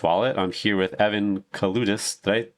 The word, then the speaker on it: Kaloudis: I'm here with Evan Kaloudis. Did I pronounce that correctly?